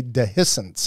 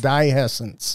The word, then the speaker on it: dehiscence: Harry bittercrest exhibits explosive dehiscence ha ha I'm glad you pronounced that because I didn't know how to say dehiscence I thought it was dyescence explosive dehiscence that basically